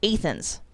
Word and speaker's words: Athens: few that bug me athens right as in greece that would make too much sense this town wants everyone to inexplicably use a long a sound so they say it's athens there's also a new